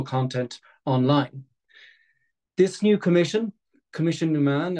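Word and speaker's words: Coimisiún na Meán: online this new commission commission num man as it is pronounced in Irish will also host the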